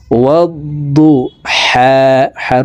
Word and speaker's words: والضحى: ওয়াদ্দু দদের উপরে তাসদিদ আছে, তাসদিদওয়ালা হরফ দুইবার উচ্চারণ করিয়া পড়িতে হয়। ওয়াদ্দু হার উপরে খারা জবর, তো এই হা হরফকে এক আলিফ টেনে পড়ব।